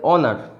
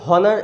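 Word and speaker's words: honour: কীরকম যদি বলি, এটার উচ্চারণ হচ্ছে অনার, উচ্চারণ হচ্ছে অনার, এর আগে কিন্তু অ্যান বসবে, কারণ কি এর উচ্চারণটা অ দিয়ে শুরু হচ্ছে। যতই এইচ থাকুক না কেন, এইচটা অ এর উচ্চারণ নিচ্ছে, হয়ের উচ্চারণ নিচ্ছে না। এটা উচ্চারণ কখনই হনার এটা হবে না।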